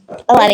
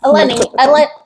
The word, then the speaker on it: Eleni: So I'm going to pass the mic off to Eleni. You did it right the first time. Eleni. It rhymes with a penny.